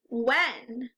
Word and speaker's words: when: that's pretty close but the H is silent in this word say it without the H W when there now it makes